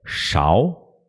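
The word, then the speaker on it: 勺: tradução colher Beleza então a pronúncia da colher é tchau e tchau o e partindo da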